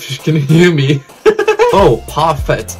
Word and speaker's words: parfait: Oh, parfait. I don't know if it's pronounced like that because parfait is a French word. It's pronounced parfait.